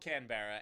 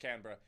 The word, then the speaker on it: Canberra: By the way, it's called Canberra. Anyway, so, or pronounced Canberra.